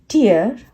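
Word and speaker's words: tear: चीज जो होती है उसे कहते हैं माइन्यूट टियर टियर मतलब आंख से आंसू आना वो टियर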